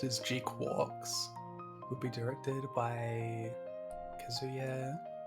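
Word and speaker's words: GQuuuuuuX: uh G pronounced as G quarks is how that's supposed to be pronounced apparently GQ uuuu X G Q u u x yeah it's apparently pronounced as G quars would be directed by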